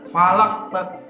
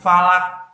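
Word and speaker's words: فَلَق: Nah, ini harus memantul falaq karena qalqalah ya. Falaq. Jangan falak. Nah, itu berarti salah ya, anak-anak.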